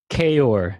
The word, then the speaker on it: Kaoir: Kior? Kior.